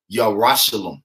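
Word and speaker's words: ירושלים: Yerushalayim, all right?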